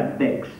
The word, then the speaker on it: Bex: j'irai à Bex. B. Quoi? Bex se prononce B. B comme les moutons? Moi je lis Bex, je dis Bex.